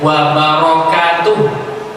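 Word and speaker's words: وَبَرَكَاتُهُ: Hati-hati bacanya wa barakatuh. Huruf ra-nya ada harokat fathah.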